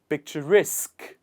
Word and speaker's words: picturesque: The stress here is picture. It is on the first part, and we say picture. But in the second word, the stress is on picturesque. Picturesque. The stress comes towards the other side of the word.